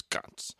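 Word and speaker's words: ghats: uh or CS they it's spelled GH a t but they they can make a c sound so it's GS okay uh and and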